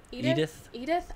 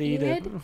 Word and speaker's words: Enid: Well, we see that Aaron and Edith. I always say her name wrong. You do. Edith is okay What? because right Enid.